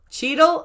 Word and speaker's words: Cheadle: best says don cheadle is that how you pronounce that cheedle or cheddle i've never been able to remember how to pronounce dawn dawn's name i've heard of anyway cheedle okay so voiceover was correct voiceover actually pronounced the name correctly for once hooray over